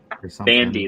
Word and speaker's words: Bondi: us how it's pronounced how bondi blue is pronounced bandy that's right yeah i